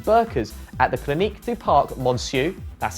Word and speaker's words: Parc Monceau: sister rafaela in burkas at the clinic du Parc Monceau that's how you say it by the way